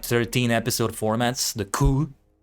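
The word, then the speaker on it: cour: 13 episode formats, the coup. I think you pronounce the word like that, C-O-U-R, and in this case with an S at the end because it's plural.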